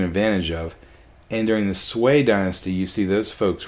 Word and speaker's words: Sui: I meant Sui. S-U-I, Sui, Sui, Sui. Let's go to the pronunciation grid.